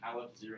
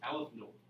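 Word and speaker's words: aleph-null: 0 is pronounced null, so you don't pronounce this Aleph 0. It's Aleph Null, or Aleph 1, Aleph 2.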